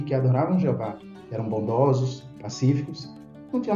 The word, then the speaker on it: Jeová: depois no texto massorético nós conhecemos a pronúncia como Jeová Temos vários Versículos aí